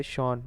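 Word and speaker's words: Sean: उसके एक अंकल हैं शॉन जिनका नाम है, ठीक है, ये सियान लिखा हुआ है लेकिन इसको जब हम प्रोनाउंस करते हैं तो शॉन प्रोनाउंस करते हैं।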